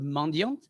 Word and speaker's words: mendiant: So mendiant, just so you know, the French word mendiant Uh-huh. is actually pronounced mendiant. We don't pronounce the T at the end, but also means beggar.